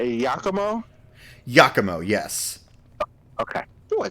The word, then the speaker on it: Yakumo: Yakumo?